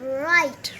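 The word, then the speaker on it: write: the sound of wr it makes the sound of r yeah what is sound of i e what is the sound of i e i i long i sound because two verbals are there i and the sound of t so w r i t e right right here here keep here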